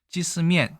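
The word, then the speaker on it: 鷄絲麵: 중국어로는 찌스면이라고 하는데 게사면이라고 얘기합니다. 게사면 해도 뭔가 바로 와닿지 않는 부분이 있죠. 우리 보통 이거를 이 닭 개자를 기라고 보통 많이 읽거든요. 기스면이라고 얘기합니다. 찌스면, 기스면 상당히 발음이 비슷하죠.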